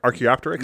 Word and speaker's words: Archaeopteryx: Archaeopteryx? Yeah, yeah, that's how you pronounce it.